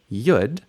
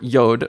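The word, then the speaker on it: יוד: you'll often hear me call this letter yud and lots of people lots of American Jewish people call it yud um ashkanazi people call it yud and that's how you say it in Yiddish and that's why that's why some of my names for letters and vowels sound funny because that's how you say them in Yiddish or in um ashkanazi Hebrew and so um bad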